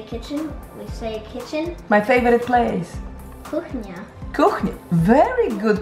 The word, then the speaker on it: kuchnia: Kuchnia. Kuchnia. Very good pronunciation.